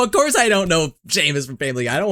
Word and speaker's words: Seamus: It's pronounced shame. Sheamus. Oh, Sheamus.